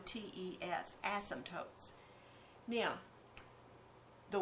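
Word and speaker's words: asymptote: here was the fact that this graph has ASM tootes you should learn to spell that word a ym p t o Tes ASM tootes now the y axis is called a vertical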